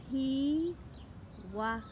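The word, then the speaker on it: pīwakawaka: a little pronunciation tip pi wah so remember with your pronunciation to almighty always make a break after every vowel and to pronounce the vowels and if you want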